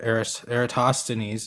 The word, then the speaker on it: Eratosthenes: If I had a nickel, or even a penny, for every time I heard Eratosthenes is how you say it, but even including all